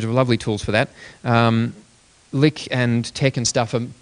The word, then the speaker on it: LyX: Pronounced Lick, but LYX.